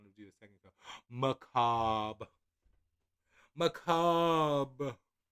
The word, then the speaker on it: Macabre: Macabre. Macabre. I like adding the little bit of the flick of the R, only because it's there.